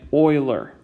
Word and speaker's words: Euler: is pronounced like it like it might be pronounced euler that's how it's spelled but it is actually pronounced like i'm doing it euler like that's how you want to pronounce euler's